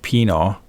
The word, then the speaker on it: Pino: And my family, my mom says Pino. Pino is like small Giuseppe. Pino, which is how you pronounce it.